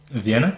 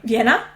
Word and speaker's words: Vienna: how do you say it in English Veen Vienna Vienna okay yeah I'm to Vienna and unfortunately could